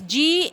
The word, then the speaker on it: gneiss: Even we learned in metamorphic rocks that marble is formed from limestone, slate is formed from shale, and gneiss, Gneiss is pronounced as gneiss, and it is formed from granite, and quartzite is formed from sandstone.